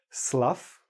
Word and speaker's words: slough: The reason I put it in the middle here is because this word actually has 2 meanings, each one pronounced differently. Slough, slough.